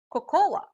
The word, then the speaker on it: cocoa: what do you say we usually hear people say or cocoa but it should be pronounced as coco for example the recipe